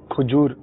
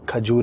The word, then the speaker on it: کھجور: اور عموماً جو ہے ایک بڑی تعداد ہے جو کھجور پیش کے ساتھ استعمال کرتے ہیں، لیکن درست جو اس کا تلفظ ہے وہ کھجور ہے، زبر کے ساتھ.